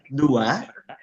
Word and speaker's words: dua: And for 2, we pronounce it dua.